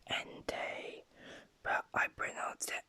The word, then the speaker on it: Entei: entei is a pr is pronounced end day but i bring out the entire for no reason also